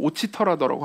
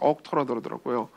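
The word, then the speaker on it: Auchterarder: 근데 이제 지금부터 아욱터라더라고 안 하고 오치터라더라고 하겠습니다. 왜냐하면 온전한 그리스도라는 책에 그렇게 번역을 했거든요. 근데 이제 실제로 그 스코틀랜드 사람한테 발음을 들어보니까 아욱터라더라고요. TMI죠.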